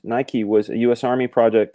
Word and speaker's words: Nike: says I don't project Nike Greek Victory pronounced Nike was a US Army